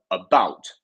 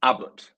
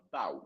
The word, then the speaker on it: about: And that shows us that we have our stress in the second syllable here because we have two syllables, about, and then we have the mark just before the B, which means that we have the about, not abbot, about.